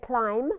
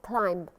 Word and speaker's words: climb: And remember, before we said climb, not climb. The B is silent. So, did they climb a mountain?